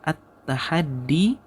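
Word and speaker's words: التحدي: adalah ini dia hikmahnya tahaddi ini bacanya attahaddi Wal oke attahad artinya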